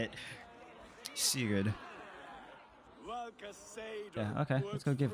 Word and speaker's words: Sigurd: Father asked me, Sigurd. Suit yourself. Oh, fuck. I actually pronounced it right. I said it lazily. I didn't want to say it the way I wanted to say it. Sigurd.